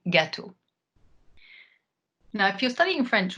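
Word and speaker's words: gâteau: start with something simple how do you say cake in French that would be Lu ghetto or in the plural li ghetto now if you're studying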